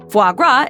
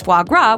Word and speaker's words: foie gras: Some attempts have been made to produce foie gras without force feeding, but it's hard to come by. The name is French for fat liver. Drop the S and rhyme the syllables.